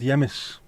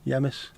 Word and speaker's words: yemis: Here they're called yemis. The H is silent, E-E. Oh no, sorry. From yemis, not from he. Basically means home ice, yemis.